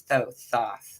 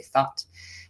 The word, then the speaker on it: Thoth: Mercury's thoth, however, some people say thought. Everybody pronounces it however it is correct for them.